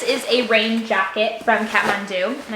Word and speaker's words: Kathmandu: jacket from kathmandu and i probably pronounced that incorrectly because it's new zealand kiwi brand and i definitely have an accent the wrong accent when i pronounce it so kat mandu i think is how they say it that being said i